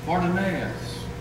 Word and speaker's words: Fortunatus: Felix and Festus were 2 Roman governors, but then there's a brother that Paul's made reference to, Fortunatus, F-O-R-T-U-N-A, accent on the N-A-N-A-T-U-S. Fortunatus.